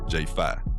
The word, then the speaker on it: J5: I'm your host, Trea Da Fit Artist, and on today's episode 49, I'm sitting down with independent hip-hop artist J5, pronounced, for an honest conversation about finding your